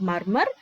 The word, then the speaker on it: murmur: Okay, it is not murmur, it is murmur. R is silent.